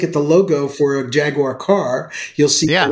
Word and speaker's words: Jaguar: Jaguar is the way the British pronounce the car that we call Jaguar. I didn't know that. Yes. Okay. The true British pronunciation for that is Jaguar.